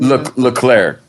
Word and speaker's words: Leclerc: Leclerc.